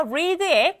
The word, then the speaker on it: read: 그래서 동사 원형일 때는 read 우리가 알고 있는 발음인데 변화형 과거로 가게 되면 어떤 발음을 읽는다? 바로 read라고 발음을 읽었어요.